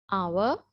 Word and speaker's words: hour: is our right so even though we have h we do not pronounce it right so i just